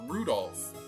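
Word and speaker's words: Rudolf: never learned anyway this guy's name is pronounced rudolph you must hate grandfather for giving him that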